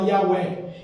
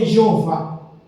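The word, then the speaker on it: Yahweh: não se podia pronunciar a palavra Yahé e não é Jeová como se ensina hoje. Falei com alguém conversei e ele insistia aqui no original Jeovamento muito, mas no hebraico não há J, não há G, não há produç.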